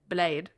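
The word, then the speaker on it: Bled: That's how she said I'm supposed to pronounce it. Blade.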